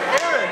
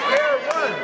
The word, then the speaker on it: Aaron: They made Aaron a two-syllable word. It's just Aaron. It's not Aaron.